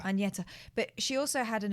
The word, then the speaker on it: Agnetha: I mean, Can we say her name properly? It's Agnetha. Agnetha.